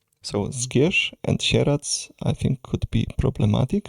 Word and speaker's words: Sieradz: And the most western city we will get in the DLC part two is called Sherats. So scar and sherats I think could be problematic for the foreigners.